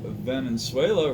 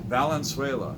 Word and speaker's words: Valenzuela: 81 tops whoops Fernando Venezuela rookie card or Venezuela somebody corrected me one time said I was pronouncing his name wrong for a Nando a balanced way that Valenzuela okay and pose 1981